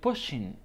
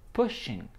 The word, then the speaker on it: pushing: pushing a quick tip the pronunciation of pushing doesn't have the final g sound so it's like pushing pushing so if you are